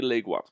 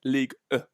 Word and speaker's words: Ligue 1: I'd probably say League 1. I'd probably say Ligue 1 is how they say it.